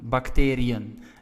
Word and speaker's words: bacteriën: Well, to show that we have to pronounce the I and the E separately. Bacterie, right? Then we add an E with a trema. And we say bacteriën.